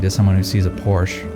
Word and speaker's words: Porsche: A romantic mind is someone who sees a Porsche, or Porsche, if you pronounce it correctly because it's the German word for horsey.